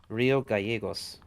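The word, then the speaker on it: Río Gallegos: Gallegos? No, it's Gallegos. Yeah, two Gallegos? L's. I always have to remember that makes a Y. So how do I pronounce that again? Rio Gallegos.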